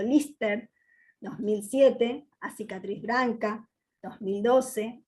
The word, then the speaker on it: Liste: Y entre sus largometrajes destacan Santa Libertade, de 2004, Liste, pronunciado Lister, 2007, A Cicatriz Branca, 2012, Nación, 2020, entre otros.